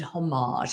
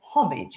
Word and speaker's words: homage: These days, those who know very little tend to pronounce it homage and kind of faux French manner. I do not do so. Homage is what I say very from rhyming almost with porridge with a sort of